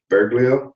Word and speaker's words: Bergoglio: Bergoglio. Thank you. Bergoglio. Bergoglio. Bergoglio. Oh, can't pronounce it.